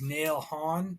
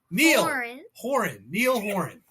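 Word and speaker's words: Niall Horan: And then also for you, like I know how much this Nail Hon, is that how you say it again? Neil Horan.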